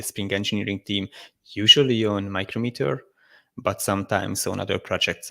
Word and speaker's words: Micrometer: Because I always say, like, I most of the time say micrometer, but there are certain times where I think I get stuck and then I just say micrometer. And I hear people say it both different ways, but since you just pronounced it micrometer, I think that's the official way.